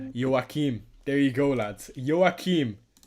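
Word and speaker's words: Joachim: Start Gee, or Yim Anderson? I would start Yoke again. I also don't know if I'm pronouncing that wrong.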